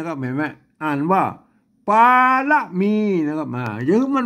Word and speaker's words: ป๋ารมี: ครับ มา อัน บน อัน บน นี้ ต้อง อ่าน แบบ เมือง ๆ นะ ครับ อัน นี้ ตัว พระ นะ ครับ อัน นี้ ตัว ละ นะ ครับ ไม่ กี่ นะ อ่าน ว่า ป่า ละ มี นะ ครับ เห็น ไหม อ่า